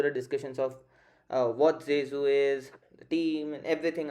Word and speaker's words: Zezu: if I'm pronouncing it wrong David but it's zesu right uh David keep going J uh yeah it's it's it's jzu right yeah Jesu all right so we have David from zesu